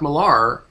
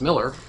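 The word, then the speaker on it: Millar: know so I mean Mark marar or Mark Miller sorry I have to I have to stop calling him that because it's pronounced Miller apparently um you know he's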